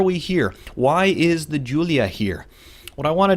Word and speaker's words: Giulia: The model name is Giulia. Giulia. It is not Guglia or anything like that. It is Giulia. It's the name Giulia, of course.